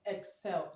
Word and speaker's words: excel: Excel, okay? Excel. It has the eighth letter. The eighth letter here is pronounced, is not silenced like here, okay?